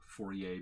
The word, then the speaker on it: Fourier: what Fourier theorem says Fourier being one of the most common pronunciations I've heard all different kinds in the business I'm gonna say Fourier